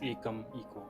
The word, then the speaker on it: Ekameco: Okay, so to begin with, let's know a little bit about Akam Echo. This is how you pronounce it, right? Yes, it's pronounced as Ekam, Eco.